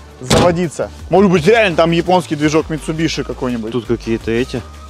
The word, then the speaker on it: Mitsubishi: публике дышит вот видишь написано mitsubishi хотя правильно читается mitsubishi по-японски движок японский может быть так